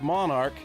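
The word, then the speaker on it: Monark: owner broker of Monarch Realy, pronounced Monarch like royalty, only spelled different.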